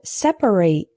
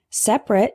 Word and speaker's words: separate: Our next heteronym is separate and separate. Separate is an adjective meaning apart or distinct. For example, there are separate bathrooms for men and women. Separate with 3 syllables is a verb referring to the action of setting things apart.